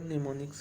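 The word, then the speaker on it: mnemonics: इनको निमोनिक्स कहते हैं। एम जो है इसमें साइलेंट है, निमोनिक्स कहते हैं इन सिंबल्स को।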